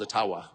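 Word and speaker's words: Ottawa: ajua First Nations leader who said actually it's it's called a tawa and uh they've been mispronouncing it all these years that I'm not making that up and if you have any of JB boy friends ask them yeah it's aawa so uh your creepy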